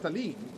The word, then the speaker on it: Talim: So maybe her name is supposed to be pronounced Talim.